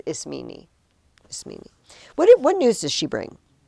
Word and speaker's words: Ismene: Greeks and Romans had no silent E. You know, the whole English silent E where it makes the other vowel long and you don't pronounce. Every syllable gets pronounced when you run into these words. So she's Ismene instead of Ismene. That's how we would say it in English. But she's Ismene.